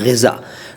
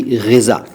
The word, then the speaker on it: ग़िज़ा: अगला शब्द है ग़िज़ा। देखो, मैं ग़िज़ा कह रहा हूँ, गिजा या गिज़ा या ग़िजा नहीं कह रहा। इसका उच्चारण ख़ास तौर से ध्यान से बोलिए कीजिएगा।